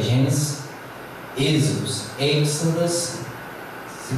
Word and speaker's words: Exodus: Ele se pronuncia Exodus, Exodus, Exodus, que traduzido é Êxodo.